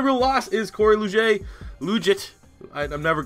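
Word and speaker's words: Liuget: loss is Corey Luce luge it I'm never like I said that's the best most Canadian way to get that name pronounced because in Canada that names 1,000% Lou J but he get a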